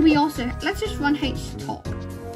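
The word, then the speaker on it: htop: also let's just run H top I think that's how you pronounce it yeah so this is HT o p or H top however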